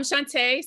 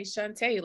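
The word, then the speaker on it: Chanta: hi y'all uh I'm Shantae c-h-a-n-t-a I like to say is pronounced Sashay Shantae like RuPaul says uh I am um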